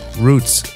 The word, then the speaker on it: roots: Roots. When we talk about roots, it rhymes with truths, and that's where the key comes in for me with the music.